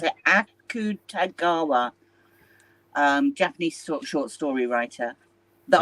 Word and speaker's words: Akutagawa: I also read some Roy and Suki Akutagawa. How do you pronounce it? Akutagawa.